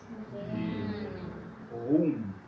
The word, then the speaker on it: Ruhm: Entonces, si después de un vocal viene una H, dentro de la sílaba, entonces tiene la función de hacer largo este vocal. Y no se escucha la H.